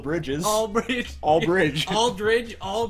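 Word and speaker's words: Aldridge: Lamarcus is pretty good all ddge rhymes with Bridge like all the bridges all Bridge all Bridge all Bridge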